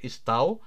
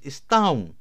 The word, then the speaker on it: estão: And if you see here, so this is not estau, it is estão.